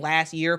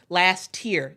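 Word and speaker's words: Last-Tear: that I I'm I I sound like I'm saying last year POA I last tier t e a r it I think sometimes when I just say her name it uh it sounds like year but I'm saying tier last tier POA um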